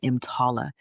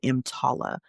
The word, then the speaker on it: EMTALA: It's called EMTALA. It's spelled E-M as in Mary, T-A-L-A.